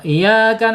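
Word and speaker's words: إِيَّاكَ: Maryamal bayyinat ya bayi ya di sini ada ya bertasid harus ada penekanan di ya sama di alfatihah tuh iyaka na'budu wa iya awas kalau iyaka na'budu wa iyaka nastain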